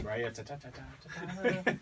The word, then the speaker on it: Raya: Since no one can pronounce her last name, it's Raya. No one can spell it.